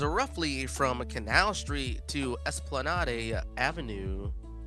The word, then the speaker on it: Esplanade: from Canal Street to Esplanade Avenue or sorry esplanad not Esplanade adding adding syllables where they don't belong oh that's sick